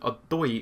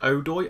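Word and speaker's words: Odoi: our players o duoi I've been pronouncing a buoy or something very silly like that you guys have told me that it's pronounced Oh doy hopefully I've got that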